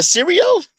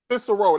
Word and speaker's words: Cicero: It was a Syrio? Huh? I can't pronounce it the right way. Cicero.